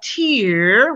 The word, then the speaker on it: tear: other crazy idiosyncrasies like a tear when you cry as a now or tear drop versus tear when you rip something up or you rip something out so conclusion does spelling